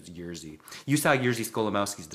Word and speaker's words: Jerzy: And then, of course, it ended up being Jerzy Skolimowski, who for years I pronounced his name as Jersey, but I think the actual pronunciation is Jerzy.